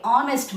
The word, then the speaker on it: honest: it's not honest guys H is silent here so you must say honest ma okay so maybe